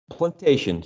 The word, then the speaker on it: plantation: word with a p is it plantation plantation or plantation or plantation what do you think plantation so we're stressing the second the second syllable plan plantation excellent plantation